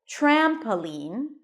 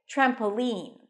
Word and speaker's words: trampoline: an N lean lean the primary stress is on the first syllable trampoline trampoline that's how I say it you can also put the stress on the last syllable trampoline trampoline you can even